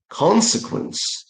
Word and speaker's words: consequence: That's not consequence. And there is no word consequently. The stress should go to the first syllable. So, it's consequence.